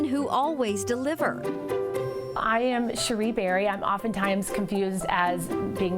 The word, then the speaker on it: Cherie Berry: I am Cherie Berry. I'm oftentimes confused as being known as Sherry Berry, but pronunciation jokes aside, I am the CEO and creative director of Cherie Berry Paper and Design.